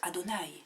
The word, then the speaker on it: Adonaï: dit y avait mais en hébreu en prononce adonaï seigneur je ne leur ai